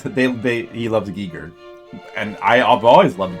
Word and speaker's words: Giger: Um who who of us used to say Geer? Because I used to say Geer because I didn't know any better. Do you guys still say Geer? Does anyone not know that it's supposed to be pronounced giger?